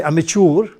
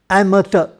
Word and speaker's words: amateur: the tada is an amateur some people say amateur but that's not the correct pronunciation the correct pronunciation is amateur and murder so try and say amateur so